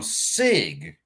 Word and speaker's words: SIG: Oftentimes I say things wrong, with the wrong pronunciation. It is what it is. However, this chick is reading a sign from SIG, S-I-G, SIG, the MCX, who is supplying the next generation of military firearms.